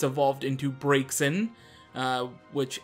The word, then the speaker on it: Braixen: It's evolved into Braixen, which I, for the longest time, thought it was pronounced Brazen, because that's usually how you would pronounce it in real world.